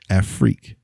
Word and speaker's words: Afrique: kubois and it's kubwa i heard you say in that whole word freak afric not free i heard free africa and the reason i said it that way it's spelled a-f-r-i-q-u-e okay a-freak freak this has it's a